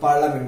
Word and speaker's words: parliament: এখানে আমাদেরকে পার্লামেন্ট শব্দ উচ্চারণ করার সময় পার্লামেন্ট বলা লাগবে, কিন্তু স্পেলিং লিখতে হবে কি পার্লিয়ামেন্ট। তাহলে আমরা স্পেলিং লেখার সময় পার্লিয়ামেন্ট মনে রাখবো, আর প্রোনাউন্সিয়েশনের সময় কি বলবো? পার্লামেন্ট বলবো। ওকে, নেক্সট ওয়ার্ড হলো কাঁচি।